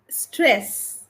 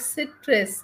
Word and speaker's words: stress: Okay, stress. It is Stress, pronounced as no, no, no, no, no, no. It is not citrus. It is stress.